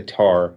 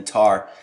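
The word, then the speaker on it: tahr: So it's the 3 packs, and it's the Argali, which is the largest, the Markor, and the Tar, which those are all sheep and goat species.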